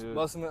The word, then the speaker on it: Musselman: Musselman. Okay, yeah. I've never known how to fully pronounce the name.